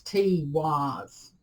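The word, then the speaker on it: Teiwaz: in reverse this is it's spelt t e i w a z it's t-wise um it is represented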